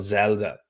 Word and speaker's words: Xelda: They have a company called Zelda. It's spelled XELDA, and they've done a really good job.